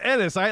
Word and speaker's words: Ennis: The Ennis doctor has a was lot from- of bad things I can think of. Ennis rhymes with penis. Ennis, like it's not Enos like everyone like used to say.